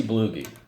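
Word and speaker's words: Bluege: is Ozzie blue ghee I think that's a pronounce his name as he blew ghee he was part of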